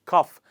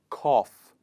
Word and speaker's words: cough: lesson, it is /of/, o-u-g-h is also pronounced as /of/, in the word ‘cough’ and ‘trough’. What is cough? A lot of times people pronounce it as ‘cuff’, that is wrong English,